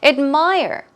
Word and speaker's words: admire: Admire, admire. Here we go. Stress goes on the second syllable.